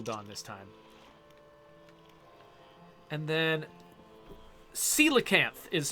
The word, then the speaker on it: coelacanth: Coelacanth is how Jawafawa says that I should pronounce that word.